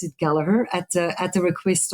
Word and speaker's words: Gallagher: that I mean he's not upset when people pronounce the name differently but he's quite it is galur it's not gagers or Gallagher so that's something that they teach us when